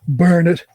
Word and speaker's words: Bernard: Burn it. I always love the way the Brits say Bernard or burn it.